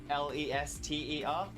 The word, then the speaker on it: Leicester: common in the US, which is Leicester, Lester, pronounced exactly the same as that. It's just, we've just thrown extra letters in because British English likes to throw extra letters in to throw people off.